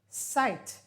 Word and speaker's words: sight: new words for today they all sound like an i long i and you do not pronounce the g and the h now in order to